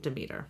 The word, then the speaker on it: Demeter: Or Demeter.